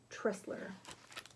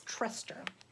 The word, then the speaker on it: Trester: picture of king arthur tressler trester i keep saying his name wrong it's truster in the late summer